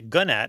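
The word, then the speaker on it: gnat: And a gunat with a silent G is a pest.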